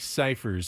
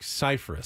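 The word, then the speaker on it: Scifres: hey guys you know I'm not Mike ciphers I'm Mike cyphus Cyprus and so you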